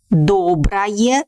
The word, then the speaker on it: доброе: Доброе слово. Pay attention on my pronunciation. We write «ое», but pronounce «ая», like доброе слово, because this ending is unstressed.